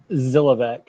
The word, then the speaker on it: Zilovec: Zilovec, like Zilovec. Godzilla. Yeah. Godzilla. The S is silent.